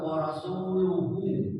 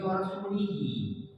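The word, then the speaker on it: وَرَسُولُهُ: hurufnya tidak tidak hilang hurufnya cuman harakatnya dia itu warasuluhu dibacanya warasulihi kan kilah eh marah Umar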